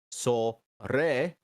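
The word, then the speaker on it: それ: over there and which which in Japanese are re sorry pronounced so re pronounced a re and Dory pronounced so that's foreign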